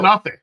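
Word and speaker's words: Knafeh: Oh, Kanafe. oh, here it is. There it is. God dang it. That's exactly how it sounds.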